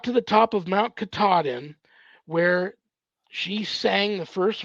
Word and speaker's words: Katahdin: top of, and Barry told me how to pronounce this, to the Mount Katahdin, Katahdin. got to the top of Mount Katahdin, where she sang the first verse.